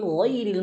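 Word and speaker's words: غير: Ghairil. Nah, di sini perhatikan teman-teman. Awas hati-hati jangan bacanya ghairil magdu. Bukan rel. Hmm. Jangan rel. Ril. Bukan rel tapi ril. ya kasrahnya sempurnakan. Hm.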